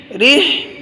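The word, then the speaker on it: رحلة: ইলাফিহিম, রিহ রিহ গলায় চাপ দিয়ে বলতে হয়। রিহ রটা হায়ের সাথে, র হাজার রিহ, হায়ের মধ্যে গলা চাপ দিতে হবে।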